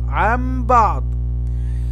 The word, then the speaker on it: عن بعض: فإذا جاء بعد النون الساكنة أو بعد التنوين حرف الباء فيكون هذا إقلاب، فنقلب النون الساكنة ميما فنقول عن بعض، هكذا تنطق عن بعض.